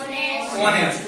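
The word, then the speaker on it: honest: ठीक है ना, जी क्या पढ़ोगे ऑनेस्ट, एच यहां भी साइलेंट होगा, ऐसी कंडीशन में क्या प्रयोग होगा एन का।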